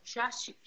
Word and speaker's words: sciascinoso: No, devi dire in romagnolo. Sciascinoso. Sciascinoso. Sciascinoso, ottima pronuncia. Hai capito? La pronuncia romagnola.